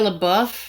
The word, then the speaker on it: LaBeouf: is this why Shia how do you say his last name Shia LaBeouf Shia LaBeouf I always want to say booth I don't know why Shia